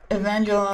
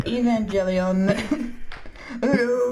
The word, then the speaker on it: Evangelion: I don't know how to pronounce it. Come on. Evangelon. Come on. Evangelon. Come on. I want to hear it again. Evangelion.